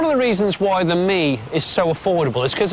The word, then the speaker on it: Mii: This tiny money saver is called the Me, spelt with two I's, don't you know?